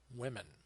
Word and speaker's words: women: Well, actually, you pronounce it as women.